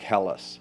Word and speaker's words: Helles: fine it's probably you it's pronounced Munich Helles you make hell as in the city Munich Germany Munich Helles lager